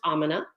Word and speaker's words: Amna: for some time now my name is pronounced amna like almonds and uh no no l in there it's really simple and